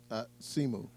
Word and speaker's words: Simu: Simu.